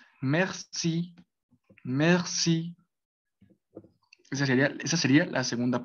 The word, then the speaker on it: merci: Entonces sería mer, mer, mer. Sería mer y de ahí ya pues se le agregaría esa última sílaba que sería sí, pero pues esa tiene una acentuación al final de la palabra que pues eh, lo va a dar, pues, a dar ese acento francés.